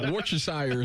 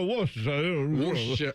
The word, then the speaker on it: Worcestershire: And now we have to all try to say it like we're looking at the letters that are in it, and we're like, well, that's how that's pronounced, and it's clearly not.